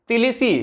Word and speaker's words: Tbilisi: Georgia तिलिसी, इसको तिलिसी पढ़ेंगे, तिलिसी, B silent है यहाँ पे, TBILISI, जॉर्जिया तिलिसी।